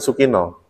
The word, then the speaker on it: Sukina: Sukino apa Sukina? Nah, bacanya kan Sukino. Orang Jawa kan A itu dibaca O.